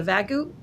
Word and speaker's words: Vagu: Well, it's not an A at the end. It is a U. I think of Wagu. Like wagoo beef, but you know.